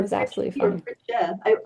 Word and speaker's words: Fritzsche: just want to say, I know I mispronounced your name. It's No, you didn't actually. You did just Fritzsche, fine. It's Fritzsche, Fritzsche. Yeah, it or was absolutely Fritzsche, or fine. Fritzsche.